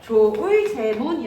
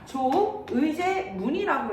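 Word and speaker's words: 조의제문: 재문이 대체 뭔데 그래요 조의 제문을 읽을 때 조의 재문이 읽는게 아니라 조의제 문이라고 읽는 거야 의제라고 하는 초나라 황제한테 보 는 문이라는 거지 조문은 무엇이에요 죽음을 추모하기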